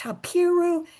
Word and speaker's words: Habiru: classless, landless people called Habiru. Does that sound like Hebrew? Habiru, Hebrew, sometimes pronounced Hapiru, Hebrew.